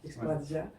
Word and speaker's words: Eksploracja: Et du coup, pour la prononciation, je sais que CJ c'est Sia, Exploratia, mais ça peut être Dia, Via. Bon, voilà. Je laisse chacun le prononcer comme il le souhaite.